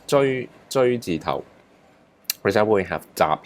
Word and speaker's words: 隹字頭: So this is pronounced 追字頭.